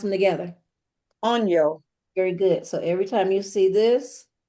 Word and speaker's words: año: yo, Okay, now pronounce them together. on yo.